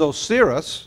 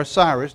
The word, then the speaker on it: Osiris: Now here in this original belief is Osiris, or Osiris, depending on how you want to pronounce that, died, went to heaven, and all souls would appear before this God.